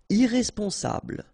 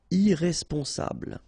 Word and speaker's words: irresponsable: Irresponsable. Don't pronounce the final E. Bl, bl will be the last sound. Sable. Irresponsable.